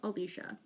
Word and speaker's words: Alisha: not I got um so my name is Alicia right not hard but it's spelled a-l-i-s-h-a so you say it phonetically but he would literally